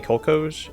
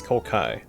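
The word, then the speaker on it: Kolkhoz: I've been saying Kolkoj. It's Kolkai.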